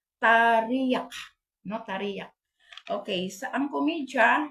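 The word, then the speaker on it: teriak: singgit tarak tarak tarak isulat is t e r i a k ang pronounce an na is tarak Tari Okay sa ang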